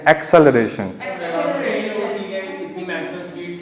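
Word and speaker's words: acceleration: ठीक है, इसको वैसे सब एक्सेलरेशन, लेकिन एक्चुअली में इसका प्रोनाउंसिएशन है एक्सेलरेशन।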